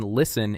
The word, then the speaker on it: listen: The silent T in listen is not pronounced.